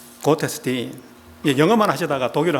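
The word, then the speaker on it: Gottesdienst: 독일어입니다 독일어로 예배라는 것은 곧에서 딘이라고 합니다 제가 발음 연습을 좀 했어요 그것 했었던 뒤에 st는 묵음입니다 고테스팅 영어만 하시다가 독일을 안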